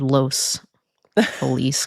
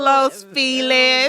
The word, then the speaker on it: Los Feliz: to say that word, Los Feliz. Don't say it the other Los way. Feliz. Don't say it. Ew. Los Feliz. No, stop. That's not how you say it.